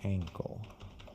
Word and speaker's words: ankle: What's the pronunciation here? My uncle. Good. Ankle. Uncle. And here, broke ankle. His ankle. Yeah, like apple.